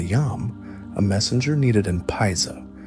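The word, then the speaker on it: paiza: To utilize the Yam, a messenger needed an paisa, pronounced pieza, a standardized official passport or tablet, often made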